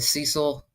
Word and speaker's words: Cecil: Let's save because I have the Cecil. I didn't pronounce that right. The Cecil, I believe it's pronounced Cecil Hotel out in California.